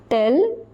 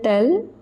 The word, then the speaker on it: tel: another note is given note number four tell or the feminine tell or the plural tell. Pronunciation remains the same for all four of them.